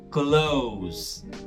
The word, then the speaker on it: close: A opção B tem essa pronúncia, close, close, sem pronunciar o E no final, tá?